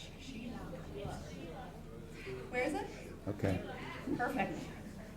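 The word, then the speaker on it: Shelagh: Sheila, way out back there. It's spelled S-H-E-L-A-G-H. Sheila.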